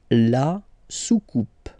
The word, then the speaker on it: soucoupe: Here you get this O-U combination of vowels and it will give you the sound OU, okay? So you repeat it twice. Soucoupe. La soucoupe.